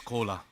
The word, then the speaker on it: Koura: Just on the stage, another collaboration is coming because my name is Koura. Everybody can understand. This is exactly same pronunciation of Coca-Cola.